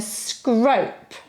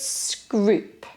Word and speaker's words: Scrope: Then Scrope. Now that's a good Tudor surname, Scrope. No, we don't pronounce it like that at all. It's Scroop. Then St.